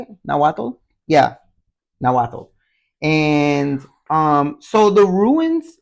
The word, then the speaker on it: Nahuatl: Yeah, Nahuatl.